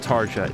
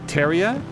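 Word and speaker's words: Tarja: It's not Taria, it's Teria.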